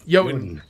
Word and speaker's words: Jotun: Jotun. J-O is yo. Okay. Well, the J is yo. Y and the O is O.